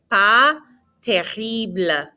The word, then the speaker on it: pas terrible: Pas terrible. Lots of good pronunciation practice here. Again, that S is silent and the R is in the back of your throat.